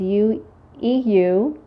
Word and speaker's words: eudialyte: And the black with the white specks, I'm going to try to pronounce this correctly, I believe is eudialyte. It's E-U-D-I-A-L-Y-T-E.